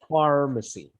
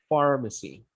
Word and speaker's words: pharmacy: Okay, pharmacy. That PH has a sound of an F, pharmacy.